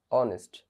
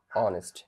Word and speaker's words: honest: না, এখানে কিন্তু আমরা হনেস্ট বলছি না, আমরা কি বলছি? Honourable, অনেস্ট। তাহলে এইচ এর মতো উচ্চারিত হচ্ছে না, এখানে কিসের মতো উচ্চারণ হচ্ছে? পরে যে ভাওয়েল রয়েছে সেটির মতো উচ্চারণ হচ্ছে, অনারেবল, অনেস্ট।